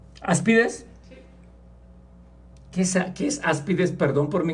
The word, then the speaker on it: áspides: engañan veneno de aspides así se dice ide aspides si no tiene acento tiene acento en la a entonces n más tiene una a es aspides áspides qué es aspides Perdón